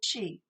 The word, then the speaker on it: qi: And it's called qi. It's spelled two ways, CHI or QI, and it's pronounced qi.